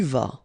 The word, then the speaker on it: vas: Tu vas, final S not pronounced. Tu vas.